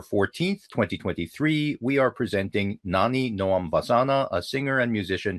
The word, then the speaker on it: Nani Noam: for us so that people will hear it pronounced more correctly than I You just did did? it perfectly, actually. Oh, Nani Noam excellent.